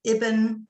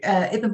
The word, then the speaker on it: Eben: Yeah, so this is a man called Ibn. Actually, I've never worked out if it's Ibn or Eben. I would pronounce it Eben. I don't know if the Americans would say Ibn, but Eben, McBurney Byers.